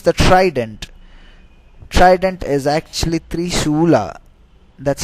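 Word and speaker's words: त्रिशूल: Trident is actually Trisula. That's how it's defined. That's how it's pronounced in Sanskrit. It's called Trisula.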